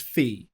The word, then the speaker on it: phi: more than it's 1 to 1.61 and it's pronounced as phi.